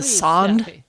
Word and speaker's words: sonde: I I don't know, but I was going to help with the pronunciation of the website. Okay. It's a sand hub.